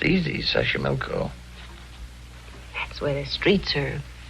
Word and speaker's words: Xochimilco: Okay, so you pronounced it better than I do. It's easy: Xochimilco.